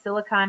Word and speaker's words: silicon: = 16 um and sorry I said silicone it's silicon um but we talk more